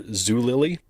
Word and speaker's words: Zulily: worked for the online retailer Zulily. Am I pronouncing that right?